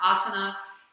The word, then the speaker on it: asana: asana is the english if you're speaking in english it's pronounced asana it has many definitions